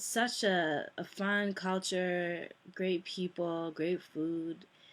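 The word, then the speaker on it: Fogo: interesting how they met my mom is from Fu that's how it's pronounced f o g o um and my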